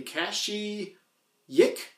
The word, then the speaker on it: Kashyyyk: Kashi Yik?